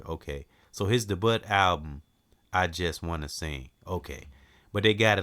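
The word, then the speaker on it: Aijuswanaseing: I just wanna sing.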